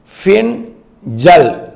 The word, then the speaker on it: Fengal: பின்சல் புயல் அது வந்து fe ஐ என் ஜே ஏ எல் இப்படித்தான் உச்சரிக்கணும் பின் ஜல் பின்சல் புயலாக உருவெடுத்து அது டெல்டா